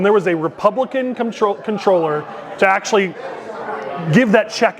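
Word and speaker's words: Comptroller: really positive about the controllers race. I'm glad Don said it right. Controller, it's actually controller, but nobody ever says it that way.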